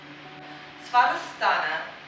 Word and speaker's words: Svadhisthana: Svadhisthana is the Sanskrit pronunciation of the sacral chakra.